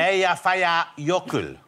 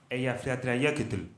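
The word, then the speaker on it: Eyjafjallajökull: How do you think it should be pronounced, Jonathan? Eia faya yokul. Let's hear it. Eia faya yokul.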